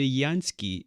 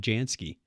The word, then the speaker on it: Jansky: going to understand that carl gutha yansky is the pronunciation of that i mean a computer would have said jansky yeah jansky that's a